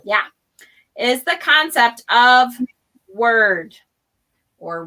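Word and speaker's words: wyrd: is the concept of word or weird a lot of people pronounce it weird because it's easier for them to distinguish it i think yeah to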